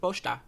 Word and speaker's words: Pochita: The way the Gun Devil's going after Pochita, I feel like that says Pochita's been up to some no good. Might not be as cute as we think. He never pronounced the I. He said Pochta.